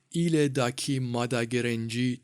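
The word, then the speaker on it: Ilha da Queimada Grande: نام رسمی آن ایل داکی ماداگرنجی تلفظ می‌شود که به معنی جزیره بزرگ سوخته شده می‌باشد.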